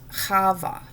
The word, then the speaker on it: Chavah: living so she becomes hava she's not Eve that's how it's said in English but that's that's a very incorrect translation of her name so I hope that you will always say hava from now on she